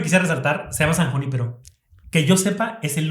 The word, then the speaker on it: Junípero: sí, hay que pronunciarlo en español porque es una palabra. Junípero. Sí, Junípero.